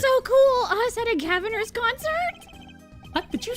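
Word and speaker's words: Gavinners: Even though it's Gaviners. We always pronounce it as Gavineers for some fucking reason. Fuck it. It just sounds cooler.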